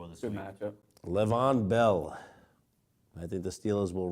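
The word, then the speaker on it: Le'Veon Bell: will be the guy Levon Bell if we want to say it right will be the guy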